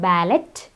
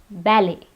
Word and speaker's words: ballet: It's not ballet, it's ballet. Here, the T is silent.